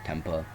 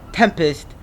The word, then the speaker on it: Tempest: he never understood why his last name was tempa until he remembered his mother's last name was tempist and he was pronouncing wrong the whole time so put down the